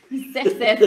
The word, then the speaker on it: Xerxès: Ou alors Xerxès Ier, excusez-moi, je ne sais pas prononcer. Xerxès? Xerxès, voilà, premier.